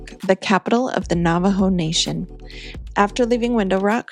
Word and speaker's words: Navajo: Navajo, the Navajo, it was the reservation.